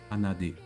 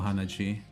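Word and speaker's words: 鼻血: D, G, Hanadi. 鼻血 Oh, Hanaji. I see the D, Hanaji.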